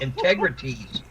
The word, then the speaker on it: Integriteez: It's www, and I'll spell it out for you. Well, I'll say it first. It's called Integrities.